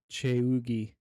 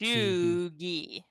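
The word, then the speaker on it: cheugy: Well, after you Google it, it says CHOO dash GEE for the pronunciation. Cheugi. Chugi.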